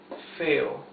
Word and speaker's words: feo: Lo más feo, the most ugly of all, or the ugliest of all, okay? Lo más feo. Feo, two syllables.